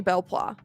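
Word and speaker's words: Belpois: I had to double check that I was pronouncing his last name correctly. He goes, my name is Jeremy Belplois, and my friends and I used to fight Xana years ago.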